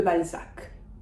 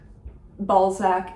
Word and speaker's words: Balzac: I would say probably Honoré de Balzac. Balzac is perfectly fine, as far as I'm concerned, in English. This illustrates the final C that we typically pronounce.